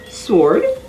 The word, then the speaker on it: sword: r-i-g-h-t other silent w words are ansa a-n-s-w-e-r sword s-w-o-r-d to t-w-o w is also silent if